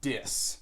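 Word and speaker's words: Dys: Well, his name is Dis. That is spelled D-Y-S, and it stands for something.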